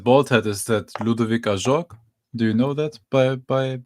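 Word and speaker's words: Ajorque: I think it's Ajorc, so pronounced French, I believe.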